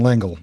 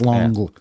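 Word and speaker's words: L'Engle: I've always said Madeline Langle, but I know that's. I think it's Longle. It's French Longle.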